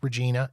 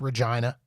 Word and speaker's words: Regina: name of this city, Regina. Yes, it's pronounced like that. It is not pronounced Regina. It is pronounced Regina, and it rhymes with what you think it rhymes with.